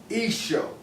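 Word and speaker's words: Eashoa: I promote his Hebrew name, which is Esho.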